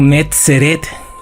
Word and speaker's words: Netzer: eruditos han concluido que nazaret o netzer et como realmente se debe de pronunciar se formó en tiempos